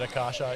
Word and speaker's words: Akasha: the good shed now we've heard two pronunciations we need to we need to get it out there will you say kasha yep are we correct yes yes excellent good stuff yeah it can be a bit tricky is a few different pronunciations that i've heard but akasha is is the one yeah so um we're